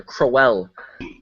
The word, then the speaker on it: Crowell: Gotta pronounce every letter. Crowell.